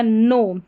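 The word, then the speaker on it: know: तो यहां पर जो के है शुरू में एन से पहले ये साइलेंट रहता है। तो यहां पर इसका उच्चारण हो गया नो। क्या हो गया? नो। इसको नाउ करके नहीं पढ़ेंगे।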